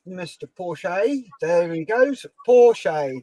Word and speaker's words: Porsche: Porsche, that's how you say it.